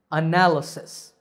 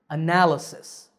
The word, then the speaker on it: analysis: analyzing something is analysis here we see four syllables and the stress is on the second syllable analysis analysis the word analytical has